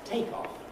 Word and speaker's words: take off: for instance we have a verb to take off an airplane takes off off as the main stress offers the primary stress and take off but the noun is take off stressed on the first to